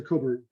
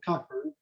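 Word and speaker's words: Cockburn: use cases by alistair coburn and yes he pronounces it coburn not cochran he's scottish and you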